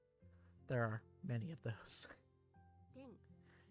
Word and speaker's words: ペン: ペン It's an easy word, and it's even pronounced the same.